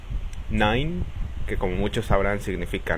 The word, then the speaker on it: nein: La combinación de letras E, I suena ai. Por ejemplo, nein, que como muchos sabrán significa no, arbeiten, que significa trabajar, reisen, que significa viajar.